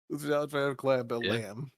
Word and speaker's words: Jean-Claude Van Damme: Jean-Claude Van Damme.